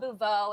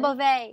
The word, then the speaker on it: Beauvais: you're working with Ross Matthews and Garcelle Bouveau, and of course Tanner Thomason. Garcelle Beauvais.